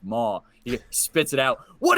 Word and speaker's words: maw: Dwight's Christmas, he's eating something and he's like, "This hog mama is great." and they go, I believe it's pronounced maw.